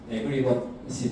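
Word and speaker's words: aggregate: 이제 DDD의 핵심 개념 중 하나가 어그리게이트인데 발음이 에그리것이 더 맞는 것 같기도 하고 저는 이거 좀 편하게 부르는데 어그리게이트라고 부를게요.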